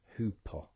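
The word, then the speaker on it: ὑπό: will become who, so it's hoopo. It's not got an O on the end, so don't make the mistake of going O on the end. It's an omicron there, so it'd be hoopo. It's a short O sound.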